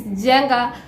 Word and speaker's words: Jenga: It is Jenga, like N is kinda silent but not silent.